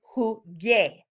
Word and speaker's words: jugué: but we need to keep it jugué with a hard G. So to indicate that this is still a hard G, we add a U after it, which tells Spanish speakers that instead of a he sound, it's a ge sound.